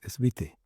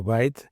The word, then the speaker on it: White: Ya bueno, tú pronuncias siempre el apellido como tú crees que es, pero en realidad es Vite, no White, aunque tiene el mismo significativo, pero viene del idioma holandés, pero significa también blanco.